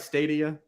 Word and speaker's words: Stadia: about St uh am I saying that right stay to you yes you saying it right now you would say a CD it would be the last time ah that was hilarious uh stadia um I would I would talk about that